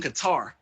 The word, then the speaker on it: Qatar: Unfortunately, they were stuck in Qatar. I think I'm pronouncing that right. Qatar, yes.